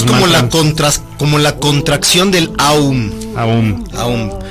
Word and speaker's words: Om: la contracción, es el Om como tal. Claro, pero se debe pronunciar Aum. En realidad, se pueden pronunciar de las dos en realidad, pero sí es más completo hacer como el Aum, porque eso te permite